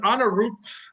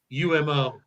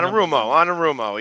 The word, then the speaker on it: Anarumo: Anarupo.